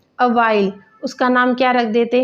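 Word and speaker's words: Avial: He named it अवाइल, OVR यहाँ पर लिखा हुआ है तो इसकी प्रोनाउंसिएशन के लिए है अवाइल, उसका नाम क्या रख देते हैं, अवाइल।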